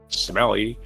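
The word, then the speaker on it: Smellie: Smelly. Sme L I E. How would you pronounce that? Smelly.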